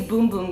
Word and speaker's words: Bum Bum: face did I say bum bum cream by the way it's boom boom cream I found that